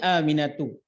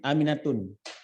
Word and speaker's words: Aminatu: Ismi Aminatu. Jangan Aminatun. Karena dia tidak bertanwin. Ismi Aminatu bacanya. Jangan tun ya.